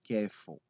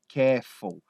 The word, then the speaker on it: careful: Você não vai falar isso. Você simplesmente corta aquele L.